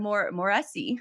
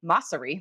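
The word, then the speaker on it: Mosseri: it's another copycat feature adam moresi or massery that's actually how you say his name is the head of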